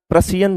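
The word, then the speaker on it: Prussian: रशियन blue हां पी ए पी पी और P silent नहीं है।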